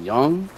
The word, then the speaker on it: Jung: name wrong is it is it young cuz J the J is silent Forge Master you came